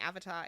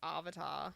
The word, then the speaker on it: Avatar: asian and authentic so instead of saying avatar it's avatar and it's un instead of ang and just everything was